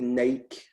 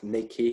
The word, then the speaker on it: Nike: but they've maybe took the Nike or Nike, depending how you say it, word out you've just